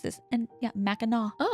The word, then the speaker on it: Mackinac: And I had to Google how to say it because I was like, there's no way this is how you pronounce this. And yeah, Meno.